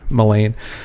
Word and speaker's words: Main: Um it's not it's melain but I mean people have their it's like Elaine but with an M on the front Main.